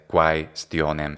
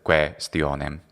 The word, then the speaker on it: quaestionem: So in ecclesiastical pronunciation, I would say something like quomodo ipse talem questionem proposuissem. And the only difference for the classical pronunciation would be to say quaestionem instead of questionem.